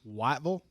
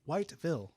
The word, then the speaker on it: Whiteville: around here you say wyvel if you're from anywhere else it's whiteville i'm reminded that there's